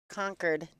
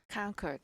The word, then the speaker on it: Concord: City Invitational here at conquered New Hampshire conquered conquered I did not know it was pronounced that way so I feel like